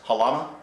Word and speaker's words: Halama: Over the years, a long tradition, I think it still continues as far as summertime, is it pronounced Halama? Yes.